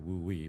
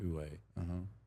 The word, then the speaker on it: Wu Wei: Ue is well it's pronounced. It looks like Wu Wei, but it's pronounced Ue.